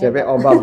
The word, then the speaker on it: CPOBAB: CPOTB berubah jadi CPOBAB, CPOBAB. Bacanya CPOBAB gitu ya.